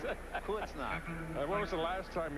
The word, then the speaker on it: Kreuznach: I hit the point that I want you to pronounce it. Kreuznach.